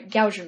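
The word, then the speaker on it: Gauss: And I'm sorry, gouge blur. It rhymes with house, I've been told.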